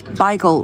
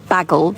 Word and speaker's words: bagel: families choose to use Bagel within the home and bagel outside but that would be too confusing for me it's not baggle it says but I don't know